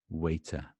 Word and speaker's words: waiter: is waiter waiter waiter waiter is kind of very soft t becoming a d basically waiter it's a D as far as I